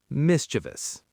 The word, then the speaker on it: mischievous: Again with the stress on the first part. Miss thus. Great. Now at a normal conversational speed. Mischievous.